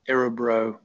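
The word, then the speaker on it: Örebro: assessment tool um it's spelt a rebro it's pronounced arabro musculoskeletal pain questionnaire short form and you can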